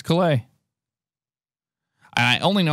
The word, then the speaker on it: Calais: And it's Calais. And I only know how to pronounce that one because of Alex told me once upon a time.